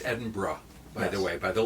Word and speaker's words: Edinburgh: brings to Emerson well um Edinburgh Scotland which pronounced Edinburgh by the way by the locals that was the first thing I learned sorry Sebastian it's Edinburgh right who was the St Andrews guy so